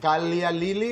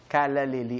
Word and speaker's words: Callalily: Is it Kalya Lili or Kalalili? Kalalili ang pagka-pronounce sa amin.